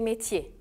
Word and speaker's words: métier: En français, le ER à la fin du mot se prononce E.